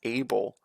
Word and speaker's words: Abel: never pronounce that name it's not even a hard name to pronounce it's able oh well she did get the kill get your next level up a bell I I think it's